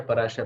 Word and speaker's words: पराशर: उनके पिताजी, है ना, पाराशर या पराशर, वो मुझे क्षमा याचना। संपदा मैम, जरा मुझे लगता है आप बता पाओगे, तो प्लीज बताओ क्या सही प्रोनाउंसिएशन है? पराशर।